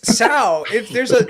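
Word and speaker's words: Tso: t isn't it general tau are you saying so it's general sour the t is silent so even we can't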